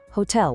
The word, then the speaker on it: hotel: Hotel with a silent H.